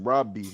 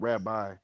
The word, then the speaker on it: Rabbi: Yeah, but it's pronounced Robi, not Rabbi.